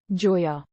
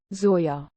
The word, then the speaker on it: Zoya: by his charm including his inability to properly pronounce her name calling her Joya instead of the proper Zoya they fall in love